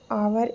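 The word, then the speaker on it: hour: Brother always exercise for आवर in morning. अब आवर वाला जो है ये दोबारा से आ चुका है, आवर है, ये इंपॉर्टेंट क्वेश्चन है क्योंकि साइलेंट एच से शुरू हो रहा है ना, तो इसको आपको याद रखना है।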